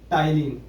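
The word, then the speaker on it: ptyalin: दूसरा है टाइलिन, जिसको क्या है? जिसकी स्पेलिंग स्टार्ट टी से नहीं टी से होगी।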